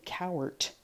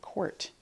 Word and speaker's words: court: give you a hint the word hour is spelt in the middle like this is our house but we don't say cowart we say quart so we spell that